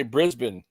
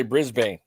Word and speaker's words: Brisbane: That's just like uh in Australia they say Brisbane whereas in here in America we say Brisbane. Yeah, they say exactly. They lit. They say Brisbane. I'm like what the is a Brisbane? It's a right. Brisbane like Bane.